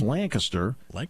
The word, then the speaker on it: Lancaster: Just like it's Lancaster.